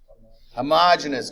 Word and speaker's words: homogeneous: How do we say that word? Homogeneous. Good. I still have people say homogeneous, though, so I have to make fun of them. No. We're not making fun of your pronunciation skills, but it is homogeneous.